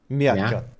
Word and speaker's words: Miyakot: And last but not least, Mayakot. How do I pronounce it? Just tell me how I pronounce it so I can get it right. Miakot. Miyakot. Miyakot.